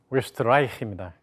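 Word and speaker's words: Österreich: 그래서 이 원래 오리지널 발음은 웨스트라이히입니다. 웨스트라이히.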